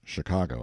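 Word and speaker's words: Chingachgook: his acute Indian experts shinka Guk pronounced Chicago I think has lost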